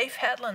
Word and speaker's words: Leif Hetland: Did I say it right? Leif Hetland, that's right.